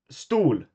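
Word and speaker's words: stol: can say like, Uh, uh, stool means chair.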